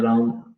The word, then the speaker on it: राम: क्योंकि कई लोग हरे कृष्णा हरे राम ऐसे बोलते हैं, जबकि हरे कृष्ण हरे राम है, नॉट रामा। That's right.